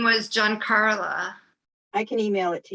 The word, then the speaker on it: Giancarla: Giacarla. I called her Gia Carla for a long time. Oh, but it's pronounced John. Yeah, GIA, maybe there's an N. GIA. Yeah, Giankarla, Giancarla.